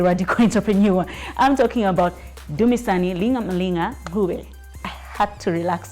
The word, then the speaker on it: Dumisani: How was the name pronunciation? Good try. Dumisani, you did it 100%.